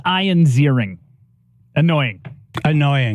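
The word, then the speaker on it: Ziering: everybody hey how do you say his name zering you know Ian zering yep from 9021 remember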